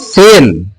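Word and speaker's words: cell: है जैसे मान लीजिए हमने लिखा सीई डबल एल क्या लिखा सी ड एल तो इसे पढ़ेंगे से सेल सेल मीन होता है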